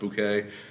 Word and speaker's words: Bucket: Well, Hyacinth Bucket. Oh no, it's pronounced Bouquet.